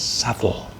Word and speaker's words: subtle: Sle tulisannya subtelah ya subtelah bacanya shuttle.